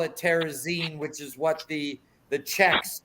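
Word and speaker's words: Terezín: And if you look on the screen right now, it's making light into how do you say like Terezin, like magazine.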